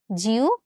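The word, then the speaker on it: জিহ্বা: এরকম উভ লেখাও কিন্তু আমরা পেয়ে থাকি। যেমন ধরো জিওবা। এখানেও কিন্তু একটা হব আছে। তো এটার উচ্চারণটা আমরা আসলে কিরকম ভাবে করি? এটার উচ্চারণটা আমরা করি হচ্ছে জিওভ।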